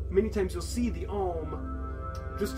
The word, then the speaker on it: Om: So many times you'll see the Om just spelled O-M. That's very common. It's just O-M, usually in caps. But phonetically, it sounds like A-U-M.